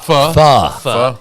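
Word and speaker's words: phở: Pho.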